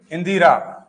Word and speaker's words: इंदिरा: इंदिरा Gandhi thank you इंदिरा Gandhi शुद्ध रूप से लिखेंगे इंदिरा। क्या लिखेंगे? इंदिरा। लेकिन हम बोलते हैं ना इंद्रा। अब इंदिरा तो हो गया इंद्र। अब इंद्र इंद्र लिखेंगे ऐसे देवराज इंद्र। अब ये इंद्रा इंद्रा कोई शब्द नहीं होता है।